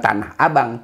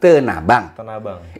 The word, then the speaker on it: Tanah Abang: Kita bacanya bukan Tanah Abang, Tenabang.